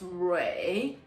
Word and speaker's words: Rui: So that's why my name is very confusing to pronounce from paper. But remember, it's Ray.